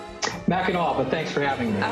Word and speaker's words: Mackinac: Mackinac, but thanks for having me.